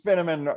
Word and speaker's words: Finneman: I All always right, so say Finneman rhymes with cinnamon, but I'm not a Spice Girl. That's good. That is good. All right. So Finneman rhymes with cinnamon, is